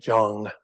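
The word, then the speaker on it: སྦྱོང: a moment and then the second character is a sa with a ba underneath it as a subscript and then a yah which is giving it uh kind of this J sound J and then the again the same o sound that's at the top and then that's with a suffix of a song sound so you get Jong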